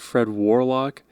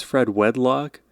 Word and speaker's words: Fred Wedlock: It's not Fred Warlock, it's Fred Wedlock.